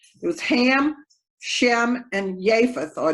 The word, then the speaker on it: Japheth: was ham shem and japheth or japheth that jay is not pronounced like a j with the three sons